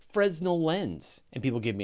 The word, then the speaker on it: Fresnel: valid pronunciation I said Fresnel lens and people give me a hard time in a recent episode apparently according to the internet for Nell and Fresnel are equally valid ways to pronounce Fresnel lens I I once